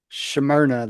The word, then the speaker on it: Smyrna: Smyrna, that's how you pronounce it too.